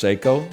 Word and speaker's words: Seiko: It's a Psycho cocktail time. You might say it's pronounced Seiko, not when I wear it.